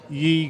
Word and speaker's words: Ye: is called Ye Grapes, which actually if you look back into old English, Ye actually means the and it's pronounced the same.